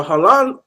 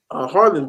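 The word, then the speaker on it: Haaland: will want them personable mother and before a Holland um came Harlan came I'll say it correctly uh you know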